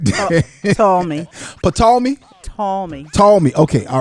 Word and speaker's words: Ptolemy: Ptolemy. Ptolemy? Ptolemy. Ptolemy. Okay. All right. Oh, so the P is silent.